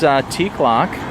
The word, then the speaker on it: Teacloc: It's spelled T-E-A-C-L-O-C. That's T-E-A-C-L-O-C. No K's in it, but it does sound like it has K's in it.